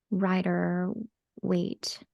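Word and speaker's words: Rider-Waite: times they'll get that that uh writer wait I think it's pronounced like that right or wait Tarot deck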